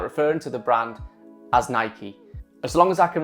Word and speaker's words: Nike: is quite apparent that I have been mispronouncing the Brand's name for a lot of years so as of today I'm going to make a stand and I'm going to start referring to the brand as Nike so the topic of